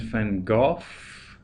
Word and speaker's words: van Gogh: So Vincent Willem van Gogh, that's the pronunciation, but in Dutch it's actually Van Gogh.